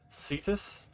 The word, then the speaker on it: Cetus: There's a secret cave on, I think it's Cetus, right? Is that how you say it? Yeah, Cetus.